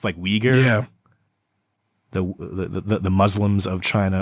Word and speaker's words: Uyghur: I hate attempting to pronounce that word, but it's Uyghur.